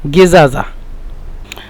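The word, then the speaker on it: زجاجة: এখানে ঝায়ের পরিবর্তে জিম নিয়ে আসে, এবং এই দুইটা জিমের পরিবর্তে ঝা নিয়ে আসে, তো গিজাজা, দাল গিজাজা ফাদিয়ালে। লেখার ক্ষেত্রে কিন্তু এভাবেই লিখবেন, আর উচ্চারণের ক্ষেত্রে বা ওদের সাথে কথা বলার সময় বলবেন গিজাজা, নইলে কিন্তু ওরা বুঝবে না।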